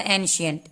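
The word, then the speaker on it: ancient: अब दूसरा वर्ड है हमारा एंशियंट, NCIENT, सियंट, एंशियंट। फिर यहाँ पे सी को हमने सौ पढ़ा क्योंकि सी के बाद आई है, ठीक है।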